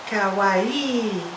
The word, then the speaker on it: kawaii: utiliser le terme kawai qui se prononce Kawi il faut bien insister sur le i surtout si vous allez